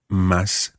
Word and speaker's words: más: We've already come across, therefore, in this lesson, más cómodo, más rápido. Más, which is spelled M-A acute S, so M-A-S with an accent on the A, is the word for more.